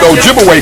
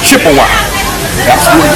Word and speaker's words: Ojibwe: spot and of course they corrupted the pronunciation of Ojibwe people to Chippewa so Chippewa and Ojibwe that's the same people was the European Corruption of their real name Ojibwe okay so they begin